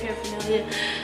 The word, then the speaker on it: paraphernalia: That's how you say it, paraphernalia.